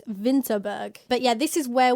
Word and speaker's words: Winterberg: about this later but it's winterberg but they pronounce a w as a v so it's vinterberg but yeah this is